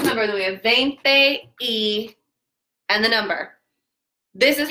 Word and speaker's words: y: And then E, it looks like a Y, but it's pronounced E.